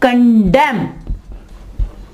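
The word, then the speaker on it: condemn: ठीक है, इसी तरह कंडेम, यहां देखें एन से पहले एम आ गया तो यहां क्या होगा कि जो एन है वो आवाज नहीं देगा। यानी यहां पे एन जो है ये साइलेंट लेटर है, यहां पे एन साइलेंट लेटर है, वर्ड के अंदर आ रहा है लेकिन आवाज नहीं दे रहा।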